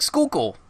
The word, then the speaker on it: Schuylkill: yeah so that's why we have places like Schuylkill and then when you spell it it looks like it's dance coolly kill